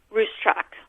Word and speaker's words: Ruscsak: cs/ei K comm say once again how you pronounce your last name racetrack okay see I would not have gotten that